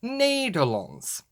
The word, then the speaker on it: Nederland: it as the Netherlands, or as they pronounce it over there, the Nederlands.